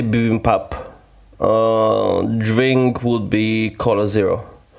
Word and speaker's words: bibimbap: I would say bibimbap.